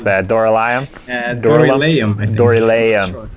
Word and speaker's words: Dorylaeum: How would you pronounce that? Doral? Dorylaeum, I think.